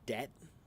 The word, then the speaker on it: debt: So for example uh like some words that have a silent B in them right uh for example like the word doubt and the word debt right why do we have that silent B in there it's well because of etmology the long story is because it the at one point the bee was not in those words.